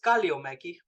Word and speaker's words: Kalliomäki: grew up that way not being able to pronounce my own last name my last name is kalio Maggie ah okay and it's finished and my background